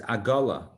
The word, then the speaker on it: agala: The Hebrew word for wagon is agala. Egla, agala. In Hebrew, they're spelled the same. Ayin, gimel, lamed, hey. The Hebrew words, I'm giving a different vowelization for the two words, but they're spelled with the same consonants in Hebrew, the same letters.